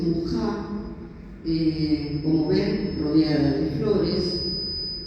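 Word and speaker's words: Mucha: Bueno, esta es ya una imagen más sensual de Muchá, se escribe Muchá, en checo dice Mujá, como ven, rodeada de flores, muy exótica.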